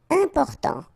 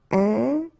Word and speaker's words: important: Important. So final T not pronounced. And then remember, you've got this EM, and after that it's a consonant, so it is here nasal. Important.